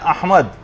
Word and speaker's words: احمد: یعنی صحیح تلفظ ہے، الف پر زبر ہے، ہا جو ہے وہ ساکن ہے، میم کے اوپر زبر ہے، اور دال جو ہے وہ ساکن، احمد۔ تو بعض اوقات اس